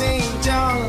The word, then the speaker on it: Xinjiang: Please say my name, it is pronounced Xinjiang.